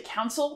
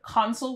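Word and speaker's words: consul: so you'll have conso a lot of people say counil which is really common but console would be the right Latin pronunciation maror Pectus classes West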